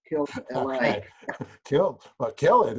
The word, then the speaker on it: Killelea: It's a, first name's Steve, second name's Killelea. So to pronounce it properly, all you got to do is think of Los Angeles and think of killing him. Kill LA.